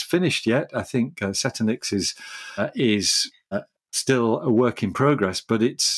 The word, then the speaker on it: Setonix: It's got a nice name, actually, and I'm not sure whether I'm pronouncing this correctly, Setonix. And potato, it's named potato. After, pardon? Potato. Yes, that's right. Oh, so it could be Setonix.